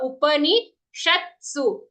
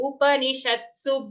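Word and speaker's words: उपनिषत्सु: But here when reciting, we have to be accurate and say full pa Upanishatsu. Not Shastu, Sha followed by half the Shat and then Su. Upanishatsu Brahma Vidyayam.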